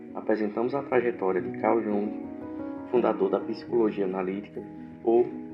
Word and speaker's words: Jung: Ao falar de psicologia junguiana ou analítica, logo associamos a seu criador, o psiquiatra suíço Carl Gustav Jung. Pronuncia-se Jung.